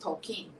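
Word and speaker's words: Tolkien: movies that I've watched is poking which is pronounced tokine he says that in the movie several times tokine and the interesting thing is that I didn't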